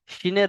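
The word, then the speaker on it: سين: তারপরে দেখেন সিন তিন আলিফ টানের সাথে সিন সিন কোন ভাই আবার এমন উচ্চারণ করছেন না তো সিন এটা কিন্তু গুন্না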